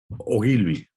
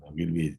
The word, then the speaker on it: Ogilvy: Eres director creativo ejecutivo y strategy advisor en la agencia de comunicación Ogilvy, ¿se pronuncia? Ogilvy Barcelona. Ogilvy, Ogilvy.